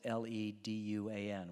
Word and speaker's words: Le Duan: And it was a guy, Le Duan, and he spells it L-E-D-U-A-N, which is pronounced Le Duan.